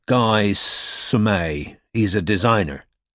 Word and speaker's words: Guy: And try and find a number for a bloke called Guy Sumet. He's a designer. It's pronounced Guy.